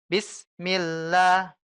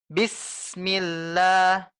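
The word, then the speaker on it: بسم الله: ini tidak dianjurkan Bu yang benar adalah kita tekan tidak ada jeda antara bis dengan Mi yaitu dengan bismillah sinnya kita tekan rasakan anginnya itu keluar bu rasakan udaranya keluar ya bis ditekan s-nya ya sinnya ditekan ya inilah yang disebut rakah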